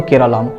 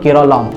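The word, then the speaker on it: കേരളം: কারণ মালায়ালাম ভাষায় এই রাজ্যকে সবসময় বলা হতো কেরালাম। 1956 সালে যখন ভাষার ভিত্তিতে রাজ্য পুনর্গঠন হয়, তখন থেকেই মালায়ালাম ভাষীদের জন্য এটি ছিল কেরলম। ইংরেজি উচ্চারণে যা হয়ে গিয়েছিল কেরালা।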